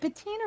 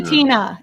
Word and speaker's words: patina: I'm almost sure it's patina. Patina. It's patina, not patina. Yeah. Yeah. It's like not Pantene, you know, as a hair product.